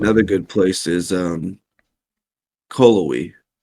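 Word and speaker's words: Cullowhee: good place is um callowy c-l-u-w-e-e i believe it is callaway i don't even spell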